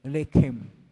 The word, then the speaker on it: lechem: Pag-pronounce po kasi ng lehem ay lechem.